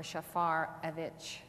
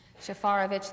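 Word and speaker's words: Shafarevich: It's like Schaefer or Shafarovich.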